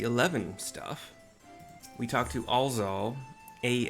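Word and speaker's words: Alxaal: We talked to Alz Aal, A L X ray A A L. I'm pronouncing the X as a Z cuz sometimes it is and it's just easier than Alx Aal.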